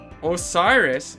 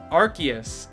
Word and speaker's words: Arceus: Osiris? Who's saying Osiris? Osiris? Arceus. Is it Arceus? Okay, I'll try to pronounce it that way then.